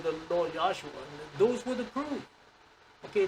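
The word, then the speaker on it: Yeshua: You know the the real uh Hebrew pronunciation is Yosua.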